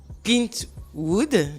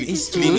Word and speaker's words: Clint Eastwood: Donc, on a La Mule avec Clint Wood, si je Clint prononce. Eastwood. Voilà, Clint Clint Eastwood. Eastwood. Désolée, j'ai mal prononcé.